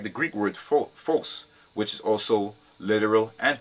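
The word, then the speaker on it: φῶς: used the Greek word, which is phos. That's how you pronounce it, phos.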